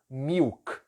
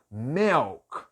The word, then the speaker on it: milk: pessoas que eu conheço quando elas falam essa palavra pela primeira vez elas falam Milk né todo mundo aprendeu assim na escola mil que ainda com i no final né para piorar Milk Milk e não a pronúncia correta é Mel Mel então uma coisa